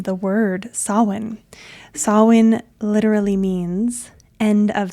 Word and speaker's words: Samhain: And in case you are new to my world and Celtic spellings, it's not pronounced the way that it's spelled because it is a Gaelic word, and the way that Gaelic is pronounced is not intuitive to English speakers.